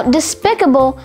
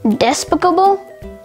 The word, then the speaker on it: despicable: Now, despicable has two alternate pronunciations, despicable, despicable.